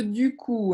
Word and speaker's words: du coup: attention à la prononciation de du coup. Hein, c'est U-ou. U-ou.